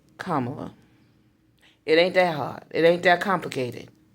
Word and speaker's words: Kamala: And you like me, I used to say Kamala, but I understand that that's not the correct pronunciation either.